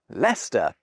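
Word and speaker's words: Leicester: super old map but bit by bit we shared those tiresome syllables in pronunciation anyway speech didn't match spelling because you know most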